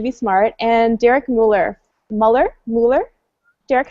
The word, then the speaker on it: Muller: Muller? Derek, how do you say your last name? Derek Muller, but you know him as Veritasium.